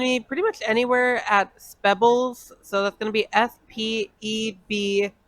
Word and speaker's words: Spebbles: You can find me pretty much anywhere at Spebbles. So that's gonna be SPEBLIZ. I thought it was pronounced Speebles. Speebles, Spebbles. Everyone has a different pronunciation.